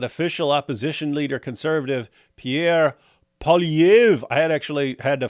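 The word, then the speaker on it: Poilievre: opposition leader conservative Pierre PV I had actually had to find a place that pronounce his name I'm still getting it wrong but apparently they don't pronounce the r at the end uh don't know why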